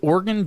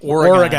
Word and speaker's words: Oregon: oregon we've been saying oregon and it's more like oregon like organs yeah like i'm an organ donor organ that organ or